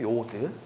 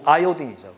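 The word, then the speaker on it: iodine: 요드. 아오딘. 어, 그렇 와이요딘. 우리말로는 요드라는데 실제로 정확한 발음은요 아이오딘이죠.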